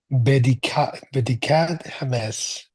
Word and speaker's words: בדיקת חמץ: you did pronounce it, you clearly pronounce the T at the end of all words. That's a little challenging to most English speakers because we don't usually do that, native speakers of English. We usually either drop the T at the end of words or we pronounce it as a glottal stop, as an like it, he hit it. But in Hebrew, you need to pronounce the T clearly.